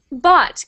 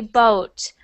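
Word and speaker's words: bought: e next one but bot good so before I heard you say boat like almost like you pronounced the U part and um actually the Au sounds like um bot just like that and I don't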